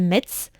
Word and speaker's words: Metz: de sa ville natale, Metz, ou Metz, je crois qu'il faut prononcer Metz dans le nord. Ça dépend. C'est ça, Metz Je crois, de souvenir, c'est Metz. Ouais.